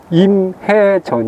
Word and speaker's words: 임해전: 이곳 은 임해전 입니다 . 'Im' 은 'facing' 의 'facing' 처럼 , 'hae' 는 'sea' 의 'hae' 처럼 발음 됩니다 .